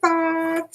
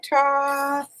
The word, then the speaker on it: Thoth: Some people say Thoth, some people say Toth. Let's see what they say. They say Toth.